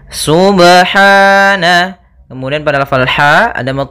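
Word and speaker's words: سُبْحَانَ: lafal huru ba sukun Apabila ada huruf ba dia harakatnya sukun maka ada hukum Qalqalah maka harus dipantulkan dalam membacanya hati-hati juga dalam pantulannya jangan sampai ada tambahan Hamzah atau di dalam bacaannya ada sakta misalnya Subhana ini sakta kalau dia tambah n Subhana harusnya dia sub ya Subhana Kemudian pada lafal ha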